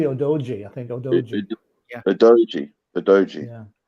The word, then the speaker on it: Udogie: Actually, they pronounce it Odogi. It's actually Odoji.